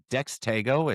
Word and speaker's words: Dextago: It's a combination of dexterity and ego, but I've called it Dextago, Dextigo, Dextigo, and Dextago, all on the same call.